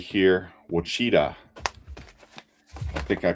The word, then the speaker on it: Ouachita: And right here, Ouachita. I think I pronounced that right. Let me double check here. Yeah, Ouachita.